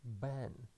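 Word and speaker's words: בן: The first consonant is beit, and it is pronounced as B because it has dagesh. And after that we go to the vowel, and the vowel is tsere, and it is pronounced as E. And the final consonant is nun. It is nun sofit, and the sound is N. So we can read this word as Ben, and the meaning is a son.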